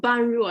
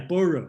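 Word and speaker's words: 般若: an important pronunciation uh it's not ban rua it's actually a border yeah borrow yeah yeah thank you thank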